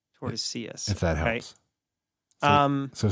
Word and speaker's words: Tordesillas: I think the L's are pronounced. I think it's Tordesillas. Tordesillas.